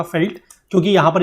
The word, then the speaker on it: veld: इसका मतलब होता है फील्ड, लेकिन इसको प्रोनाउंस किया जाता है फेल्ट। ठीक है, इसको वेल्ड नहीं बोलते। मैंने आपको ऊपर से बोला कि इसको वेल्ड बोलते हैं, वेल्ड नहीं है, this is known as felt.